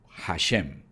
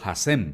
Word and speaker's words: Hashem: Entonces ellos decidieron llamarlo Hashem. La palabra Hashem o Hasem, como dicen algunos, es un término hebreo que significa literalmente el nombre. Así nada más. ¿Qué significa Hashem?